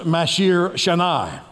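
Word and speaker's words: מעשר שני: And then the second tithe is pronounced Mashir Shanai.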